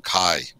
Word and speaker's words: kei: I think they pronounce them, I think it's KEI, but they pronounce them Kai.